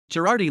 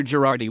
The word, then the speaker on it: Girardi: Girardi was born in Graz. His father was the locksmith Andreas Girardi, who had migrated to Graz from Cortina d'Ampezzo. Following the early death of his father, Alexander Girardi was raised by his stepfather, who put him